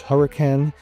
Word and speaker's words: Hurricane: So, right there it says hurricane and it's pronounced hurricane. That's how the locals say it.